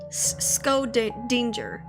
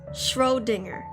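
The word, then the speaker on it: Schrödinger: Scodinger.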